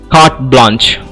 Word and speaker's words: carte blanche: Carte blanche. I repeat the word CARTEBLANCHE. It is pronounced as carte blanche.